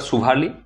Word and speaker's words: সুভালি: দিল ঠিক আছে আচ্ছা একচুয়ালি এই জায়গাটা সোয়ালি নয় এই জায়গাটা সুভালি এটাই সুরাটের কাছে সুভালি তো ব্রিটিশরা তো উচ্চারণ